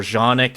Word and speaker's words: Canik: If not that, Canik is very affordable and good. Or Janik, if you want to be technical about its pronunciation.